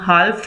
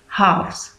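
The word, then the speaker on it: halves: और इसमें प्लीज़ याद रखिएगा दैट एल जो है वो साइलेंट रहता है, इसको हम हाल्फ नहीं बोलेंगे या हाल्फ्स नहीं बोलेंगे. इसका जो करेक्ट प्रोनाउंसिएशन है दैट विल बी हाफ्स.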